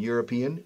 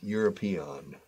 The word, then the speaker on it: European: And European, European. All right. European. So, Europe. A European problem. A, no an. Aunque empiece por E, it's a European question and the European Parliament.